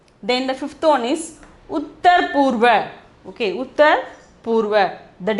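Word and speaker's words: उत्तर: Pronunciation is Uttar.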